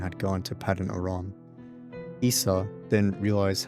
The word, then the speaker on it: Esau: and au okay now I completely forgot how pronounced this guy's name now Esau Esau Esau okay sorry now Esau learned that